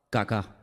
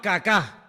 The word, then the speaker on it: Kaká: Se llamaba Kaká. Menos mal que tenía el acento ahí. Si llega a tener el acento en otro lado, peor todavía. Se llamaba Kaká.